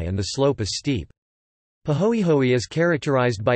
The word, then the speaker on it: pāhoehoe: are named according to the surface texture are pronounced aw and pahoehoe pahoehoe both Hawaiian words ah is characterized by a